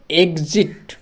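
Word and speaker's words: exit: মানে বাহির হওয়ার পথ এক্ষেত্রে এক্স এর উচ্চারণ কিভাবে গজ হচ্ছে সেটা আমরা দেখব গজ ই এক্স ই এক্স তাহলে ই এর উচ্চারণটা কি এবারে এক্স এর উচ্চারণ হলো গজ তাহলে এখানে একটু বুঝাই তাহলে ই এর উচ্চারণ হলো এ এরপরে এক্স এর উচ্চারণ হলো গজ গজ এরপরে দেওয়া আছে দেখো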